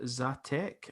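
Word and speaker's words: Žatec: in the czech republic where it is called zatec i think is how you say it and it's grown in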